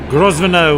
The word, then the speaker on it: Grosvenor: 2 very strong teams, and I welcome the captain of Leftovers, Carol Grosvenor, with a silent S. Not the Carol, the Grosvenor.